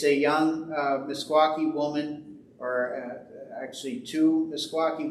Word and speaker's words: Meskwaki: T and they are sometimes known as the uh the the fox um but correctly it is msaki and it is spelled mes k w Ki uh sometimes it's been spelled with a q q i e but the K spelling is the one the